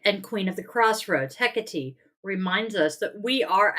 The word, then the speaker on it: Hecate: I am going to look up how to pronounce it because goddess knows I should know by now. PR. Go ha. Hecate.